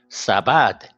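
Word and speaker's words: سبد: S, a, b, a, d. Okay, sabad.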